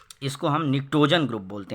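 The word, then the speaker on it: pnictogen: Group है, इसको हम निक्टोजन ग्रुप बोलते हैं। यहाँ पी साइलेंट है, इसको निक्टोजन बोलते हैं।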